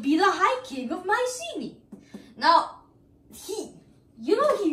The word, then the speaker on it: Mycenae: know how it's really spelled but but it's pronounced Mycenae just remember that there won't yeah but I